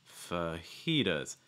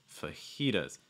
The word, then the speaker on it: fajitas: fast d sound so instead of saying like tu tus it's actually going to sound like a fast d so it's going to be like does does fujitas fajitas stressing the second syllable fajitas fajitas all right